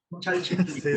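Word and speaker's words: Chalchiuhtlicue: Esta vez decidieron poner a Chalchitlicue. ¿Sí lo pronuncian? Sí, Sí, Chalchitlicue.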